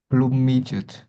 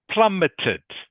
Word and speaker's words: plummeted: next one please uh plumed plummeted plummeted plummeted good it is plummeted not plumed plummeted plumet Plum means to